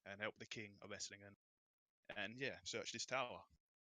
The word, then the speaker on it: Esslingen: Is it Esslingen? Is that how you pronounce it? Esslingen. Yeah, perfect. Esslingen.